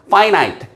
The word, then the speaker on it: finite: by on finite nature 자 발음 조심하세요. 아니고파이나이트입니다. 그 자체에 파이나이트 유한한 끝이 있는 본성에 의해.